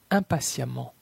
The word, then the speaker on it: impatiemment: La lettre E dans la combinaison de lettres EMM se prononce comme un A. Femme, femme. Évidemment, évidemment. Prudemment, prudemment. Violemment, violemment. Impatiemment, impatiemment. Intelligemment, intelligemment.